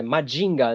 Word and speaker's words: Mazinger: Porque se a gente for pegar a pronúncia, é Majinga, né?